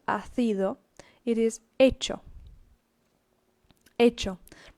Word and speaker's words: hecho: But it is not hacido, it is hecho. Hecho. Remember, ch is pronounced as a ch. The h is silent, and so hecho.